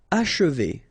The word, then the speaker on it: achever: Achever. Okay, and then if you want to pronounce it the way French people will do, so don't insist too much on this and you will get H.